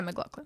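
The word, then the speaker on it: MacLachlan: played by carl uh mclaughlin i thought you say his name like i think yeah mclaughlin yeah yeah so if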